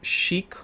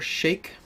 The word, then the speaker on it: Sheikh: this a single County Chic or Shake depending on how you feel like pronouncing it we will also do